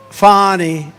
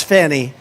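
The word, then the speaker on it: Fani: anybody fonny it's pronounced fonnie F A ni I that's Fanny but she likes it fonnie when she became the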